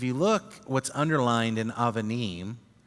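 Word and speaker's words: אבנים: When it's not the first letter in the word, it makes a v sound, but it's the same letter.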